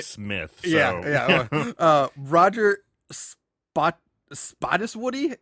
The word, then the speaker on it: Spottiswoode: Roger Spottiswoode. It's spelled Spottiswoode. Spottiswoode. Spottiswoode.